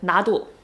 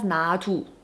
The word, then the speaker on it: 나도: The word 나도, which means me too, 나도. People can pronounce it as 나두, 나두.